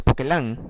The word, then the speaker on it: Poquelin: Se escribe Poquelin, se pronuncia Poquelin en francés.